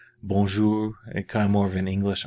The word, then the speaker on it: bonjour: okay bones ooh if you want to say bonjour bonjour and come over in English are it's not